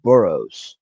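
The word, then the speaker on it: Burroughs: for you it's uh it's pronounced burrow buros all righty and it's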